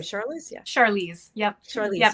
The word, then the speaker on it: Charlize: Charlize?